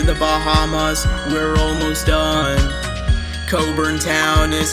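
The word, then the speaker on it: Cockburn Town: Caribbean next to the Bahamas we're almost done Coburn town is how you pronounce the capital's name spreading across most gr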